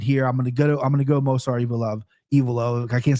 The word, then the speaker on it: Movsar Evloev: KenFlo, Movsar, and in fairness, it's one of the names that us play-by-play announcers all disagree on, and we all pronounce it our own ways. But I stand by Movsar Evloev.